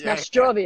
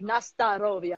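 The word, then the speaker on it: Na zdorovie: Just like I did this song, and in America, a lot of people mispronounce Nastarovia. As Nastrovia. Yeah. And it's like, I was saying it wrong, but it's like Nastarovia, yeah?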